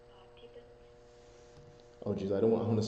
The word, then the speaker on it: Parthiban: It's Parthiban. Oh, geez, I want to spell that.